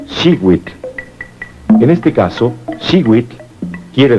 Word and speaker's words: Xihuitl: Cada cuadrete contiene el color turquesa, que se pronuncia Xihuitl.